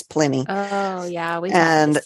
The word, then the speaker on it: Pliny: It's spelled Pliny, but I think it's Pliny.